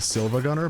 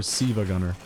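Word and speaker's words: SiIvaGunner: familiar someone is with Silva Gunner by whether they pronounce it Silva Gunner or Siva Gunner. Because one of those is correct and it's not Silva Gunner.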